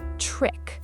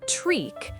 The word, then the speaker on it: trick: Pronunciation, trick. Short I sound, trick. Not treek, trick. Trick. Short and sharp.